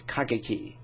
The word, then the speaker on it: Kageki: No, that's not. It's Kageki. Yeah, I think I've been mispronouncing it.